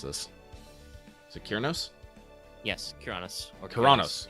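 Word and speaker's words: Cernunnos: Yes, Kyranos. Or Kyranos. It's a hard K.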